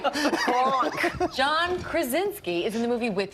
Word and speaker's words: Krasinski: So your husband, actually, John Gronkowski, who everybody... Oh, that is... Gronkowski? That was an interesting pronunciation. Maybe he wants to be Rob Gronkowski. Gronk and Krasinski. Right? Gronk. John Krasinski is in the movie with you.